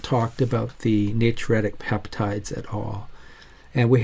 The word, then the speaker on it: natriuretic: on the other side that's how you pronounce it like N J Tree youat like bat Ric ntic system or and it's